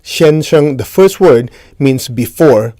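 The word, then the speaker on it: 先生: So sensei in Japanese is pronounced shenseng in Chinese.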